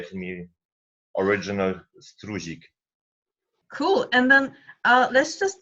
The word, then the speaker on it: Struzik: In Poland it's Struzik, in German it's spelled Struzik. In the polish seminars all people say to me original Struzik.